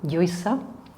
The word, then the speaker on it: Lluisa: A little bit further back, we have the post-alveolar consonants with the Lla sound, as in Lluisa, or the other way of pronouncing it, Lluisa, and the Cha sound, as in chocolate, which is my favorite food, by the way.